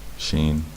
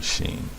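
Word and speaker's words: שׁ: Numerical equivalent of 300, and the sound is sh, sh, like someone telling you to be quiet. Someone shushing you.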